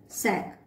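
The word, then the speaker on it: sac: इफ S comes in the beginning of a word, तब इसका उच्चारण और प्रोनाउंसिएशन होगा स से। For example, सैक।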